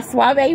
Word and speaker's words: Suave: Our brand new Suave, pronounced Suave, is the result of an innovative winemaking technique.